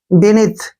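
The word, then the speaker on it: beneath: बी ई का उच्चारण बी हो गया, और एन ई का उच्चारण नी हो गया। ठीक है। यहाँ पे एन ई ए से हमारा नी बन गया, और टी एच का उच्चारण थ होता है। बेनिथ क्या पढ़ेंगे इसको, बेनिथ।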